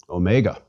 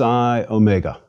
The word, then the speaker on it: omega: repeat Sai and finally Omega Omega is Big O Mega o as opposed to micro o or Omron me GA o is long like the O in open please repeat Omega o